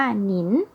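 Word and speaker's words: 您: ด้วย ค่ะ อย่าง เช่น คำ นี้ นะ คะ อ่าน ว่า นิล แปล ว่า ท่าน แต่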